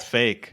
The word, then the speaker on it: PHEIC: Is it a coincidence that it's pronounced fake?